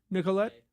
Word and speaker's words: Nicollet: Am I pronouncing that correctly? Nicollet?